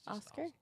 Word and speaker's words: Oscar: say it for real just Oscar Oscar Oscar put the r on it Oscar yeah you just the